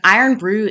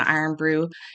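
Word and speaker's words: Irn-Bru: contain iron and so they changed the spelling to i-r-n-bru and it is an acquired taste I'm told I mean I was raised on iron Brew it's bright orange nonsensically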